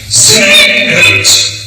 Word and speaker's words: Singet: So in choir 2, he starts just the word Singet, 2 syllables. Singet, Singet.